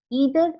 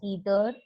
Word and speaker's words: either: pronunciation the pronunciation is you can pronounce either or either or neither or neither both are correct depending upon your liking you can call it